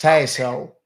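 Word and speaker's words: Tassole: It's pronounced Tassel.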